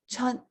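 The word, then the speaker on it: 出: So chut is how to pronounce it.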